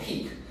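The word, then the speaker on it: peaq: and Ethereum, it would be a coin called Peak.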